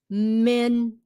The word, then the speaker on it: minimum: The first I is pronounced with a short I. Minimum. The two do not sound the same. Không phải là minimum. Minimum. The minimum age is 25. Tối thiểu, minimum age is 25. Okay, get away from saying minimum. What do you mean minimum? There is no mum here.